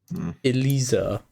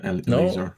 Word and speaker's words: Eliezer: And then also another one, Elisa. Whatever the fuck you want to pronounce that. No, Eliezer. it's IE.